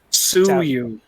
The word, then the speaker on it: Tsuyu: Suyu. Tsuyu. Suyu. T is silent.